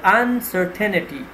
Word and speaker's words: uncertainty: So uncertainty, the stress would be on the second syllable, and it's a noun which means feelings of being unsure about how some things will end.